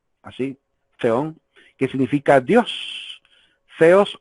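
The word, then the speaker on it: θεός: Theos o theon, se pronuncia como que fuera una letra Z, ¿verdad? Como la TH inglesa, el theon o theos, es el Dios.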